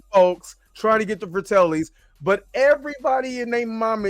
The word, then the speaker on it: Fratellis: Am I Yes, pronouncing that right? Fratellis.